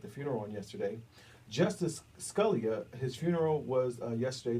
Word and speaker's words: Scalia: of course we understand that Supreme Court Justice Scalia or Scalia is pronounced suddenly died into his Texas ranch a